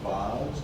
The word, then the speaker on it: vase: So John, is that last syllable, is that what we, with a British and Australian English, would pronounce vase?